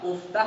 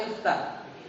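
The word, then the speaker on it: اِفْتَحْ: Uftah apa iftah? Iftah. Karena ain fi'ilnya fathah, hamzah wasalnya harus kasrah.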